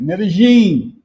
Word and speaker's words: Medellín: Medigene.